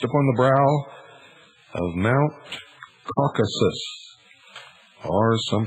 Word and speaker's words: Caucasus: chained and placed upon the brow of mount caucasus or some pronounce it caucasus there to remain with a vulture gnawing at